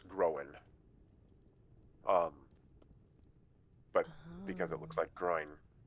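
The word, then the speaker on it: Gróin: But because it has that apostrophe above the O, it's pronounced Groen.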